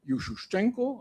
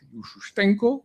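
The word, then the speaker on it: Ющенко: soutenait les pays occidentaux Yusuenko à l'époque Yushenko comme ça il faut le prononcer paraît-il qui a dit c'est un héros national et il a proclamé Donc c'était une provocation.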